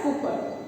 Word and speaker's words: Cowper: He is William Cowper, pronounced as Cooper.